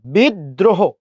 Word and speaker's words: বিদ্রোহ: বিদ্রোহ, খেয়াল করেন, বস্কের বি।